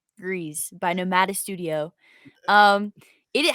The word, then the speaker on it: Gris: soul is greece right i say it right greece greece greece g-r-i-s not gris greez by nomada studio um